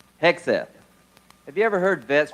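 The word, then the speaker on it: Hegseth: Hexf.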